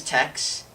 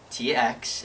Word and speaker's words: TX: My name is Tex. TX is my first name, so they always pronounce my name wrong. It's always Tx, or is Tex here? Or TX?